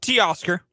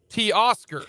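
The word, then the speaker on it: Teoscar: how you pronounce it t Oscar T Oscar so just you know oscar but say t in front of it t Oscar T Oscar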